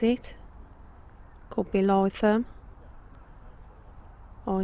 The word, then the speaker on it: Lytham St Annes: And we're in Lytham St Anne's. That's how you pronounce it. Could be Lytham.